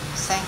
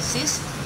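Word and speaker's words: six: con sen con còn số sáu khi mình đọc nó đứng một mình mình đọc là Sis Nhưng mà nếu mà sau đó vẫn còn một từ dới để đọc ta sẽ đọc là se se và ta nối qua là se se set thì ta đọc là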